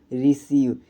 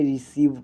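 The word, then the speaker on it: receive: में देख लीजिए दोस्तों रिसीव यहां पर दोस्तों सी के बगल में ई आई आया है इसलिए दोस्तों हमने इस इ आई का हमने उच्चारण क्या किया है बड़ी ई किया है इसलिए दोस्तों इसको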